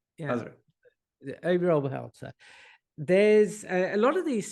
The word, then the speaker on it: Obi Oberholzer: Your number 4, Obi Oberholzer. Is that how you pronounce it? Obi Oberholzer. Yeah. Obi Oberholzer.